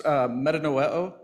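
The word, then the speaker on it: μετανοέω: That's metanoeo, means to change the mind.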